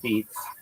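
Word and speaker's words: apizza: They New Haven Pizza, locally called a pizza, pronounced beats.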